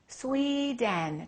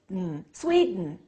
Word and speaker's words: Sweden: the first name Sweden two syllables which one is stressed the first one okay what happens to the second one swed Sweden Sweden so don't say I am from Sweden say I'm from Sweden how do we say